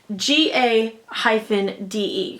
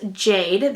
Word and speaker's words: GA-DE: like it is pronounced GA - de can you see it down there on the bottom and so it looks like you would pronounce it GA de but you actually pronounce it as Jade that is the company